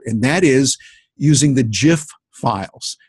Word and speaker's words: GIF: that is using the Jif files gif which is pronounced jiff and it gives you